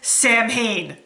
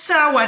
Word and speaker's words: Samhain: Actually, just one word, and he says, Samhain. It's the pronounced Samhain, and you should know better, sir.